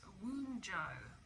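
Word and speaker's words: Wunjo: It's actually pronounced Woonjo, and the association with this is harmony, joy of life, prosperity, well-being, fellowship, and self-worth.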